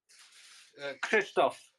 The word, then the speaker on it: Krzysztof: How do you pronounce that? Krzysztof.